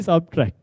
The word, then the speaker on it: subtract: We subtract. Okay. So the process is subtraction. It's not subtraction. But I admit that pronunciation is even accepted.